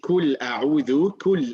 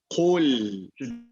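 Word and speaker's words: قل: And remember, what we said last time is when you say kul a'udhu is wrong. Kul a'udhu, it should be qul. Should be. Can you try it again, please? Qul.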